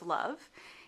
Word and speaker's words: love: So the first question, why is there a single silent E at the end of love, is a good one because it doesn't act the way single silent E does sometimes in making the O there have a long sound.